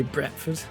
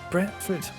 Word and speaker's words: Bradford: Bradford I like that when people from Bradford say bretford first time I heard that I was like oh my God that's amazing bretford like b r a